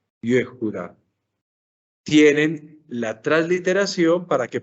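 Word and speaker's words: יהודה: Una palabra como Judá se escribe, observen, Yehuda. Aquí tiene la palabra. Yehuda. Yehuda.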